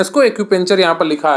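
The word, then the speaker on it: acupuncture: व्यायाम acupenture एक्यूप्रेशर और योग आदि शामिल है एक्स पंचर वैसे कहते हैं इसको एक्यूपंक्चर यहां पर लिखा है दोनों चीज कहते हैं उच्चारण अपने-अपने अनुसार लोग बदलते रहते हैं तो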